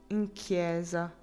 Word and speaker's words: chiesa: I was chase is pronounced with like hard k and in chiesa. Like cases. Okay, chiesa.